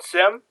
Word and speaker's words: SIEM: Um I call it Sim. Um some people call it Seam. Some people will start really trying to enunciate SIEM. But uh I call it Sim and I think most people I know call it Sim.